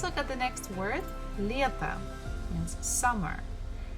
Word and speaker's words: лето: Bukva ye is stressed, so we have to pronounce it as ye, as it is. But next one, the last syllable, we have to, T-O, to. And here O is not stressed, so we pronounce it actually as A. So it will be like this. Лето, лето, summer.